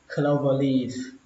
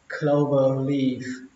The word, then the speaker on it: clover leaf: Cũng như những lần trước, mình lưu ý một lần nữa là cái chữ này đọc là khờ, không phải là cờ, nó không phải là clover leaf, nó là khờ, clover leaf, clover leaf.